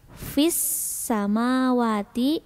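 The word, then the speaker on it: فِي السَّمَاوَاتِ: Kenapa dibacanya fis padahal ditulisnya fil samawati karena ini ada tasjid atau sidah gitu. Ada sidah sebelum huruf sin gitu. Ini otomatis dibacanya fis gitu. Karena ada sidah sebelum huruf sinnya. Jadi untuk alif lamnya tuh tidak dibaca, dimasukkan ke huruf sin.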